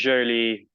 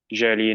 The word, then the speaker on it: Joly: It's the correct pronunciation is Joly because Oh, it's Joly.